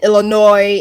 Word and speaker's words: Illinois: That's cuz pecan tomato tomato people not telling you that the s in Illinois is not pronounced like why is